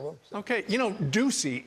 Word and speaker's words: Doocy: Okay, you know, Ducey is so hard to rhyme, but it rhymes with Watusi.